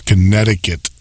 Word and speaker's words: Connecticut: just want to put that in there it's Connecticut that's how you say it knucklehead but um